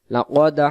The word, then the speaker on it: لقد: উচ্চারণ আমরা বলবো লাকদ হাক্কল কওলু, লাকদ হাক্কল কওলু, কোনো টান নেই, তিন শব্দে কোনো টান হবে না।